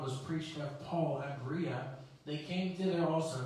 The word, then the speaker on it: Berea: paul came and preached to the people in berea and that is how you pronounce it he came to preach also amen